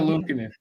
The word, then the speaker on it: Luukkonen: I go, Kath, how would you pronounce this? Ukko-Pekka Luukkonen. I Ukko-Pekka Luukkonen.